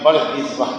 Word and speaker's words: بردزبہ: تلفظ بھی سمجھ میں آ گیا. بردزبہ یہی تلفظ.